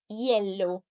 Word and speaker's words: hielo: You should have had a silent H like hace, hielo, huracán. You should have read the tilde because here you can see this word has three versions of it.